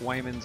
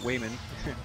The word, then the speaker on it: Wyman: the Taran opening up Wyman's going to Wayman Wyman that's how you pronounce it I was I was instructed on that so Wyman's gonna be